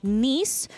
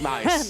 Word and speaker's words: Nice: Tour is Evo, France all the way in Nice. I used to pronounce it as nice, but it is pronounced Nice.